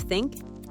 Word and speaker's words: think: But most people either say sink instead of think or zeter instead of theater.